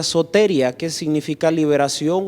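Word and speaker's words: σωτηρία: Porque en primer lugar vamos a hablar y exponer de que la salvación viene de un verbo que se pronuncia soteria, que significa liberación o atravesar un lugar con seguridad.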